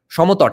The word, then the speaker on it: Samatata: Though the Surma Valley, as part of the monetized states of Samatata, Shomotot actually, that's the pronunciation in Bengali, Samatata and Harikela, could not have been immune to these developments.